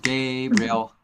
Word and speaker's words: Gabriel: I mean, the word is really Gabriel, but you have to say the real part fast. Gabriel, Okay. Gabriel. You end up saying it as one syllable.